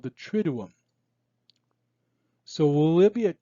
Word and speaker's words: Triduum: You pronounce it like this. Tri sounds like trip without the P. Do sounds like do.